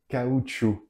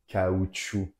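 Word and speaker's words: caoutchouc: language spoken in Peru final consonants are not pronounced as always so let's do it again kuchu your sounds together in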